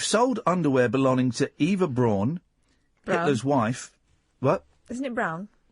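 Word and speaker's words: Braun: pronounce it wrong then it's pronounced Brawn either Brawn yeah but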